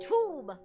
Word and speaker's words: Thumb: Thumb pronounced tomb.